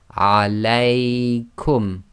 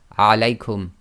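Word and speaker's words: عليكم: Now when you pronounce this, you have to get the lengths right. The diphthong must be too long, so you have to go alaykum. You can't say alaykum.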